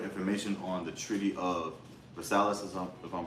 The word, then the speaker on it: Versailles: Okay, Khan, this is some quick information on the Treaty of Versailles, if I'm pronouncing it right.